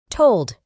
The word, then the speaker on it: told: Para pronunciar correctamente este verbo, debemos añadir una U muy fina después de la O. Told.